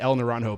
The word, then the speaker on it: El Naranjo: Then in 2012, El Naranjo, I want to say El Naranjo, but I know I'm not saying it right.